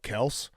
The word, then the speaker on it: Kelce: "Hey, you hear about Kels?" And I was like, "What?" Because he was actually pronouncing it correctly, Kels.